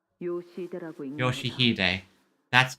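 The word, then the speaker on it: 良秀: Ryoshu? 아니. No, 그 글자는 그렇게 읽는 that's 게 not 아니라 how you read those letters. 요시히데라고 읽는 거다. Yoshihide.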